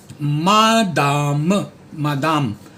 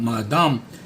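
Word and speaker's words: madame: Then you have मादाम, like बादाम, और ब का म कर दो, मादाम.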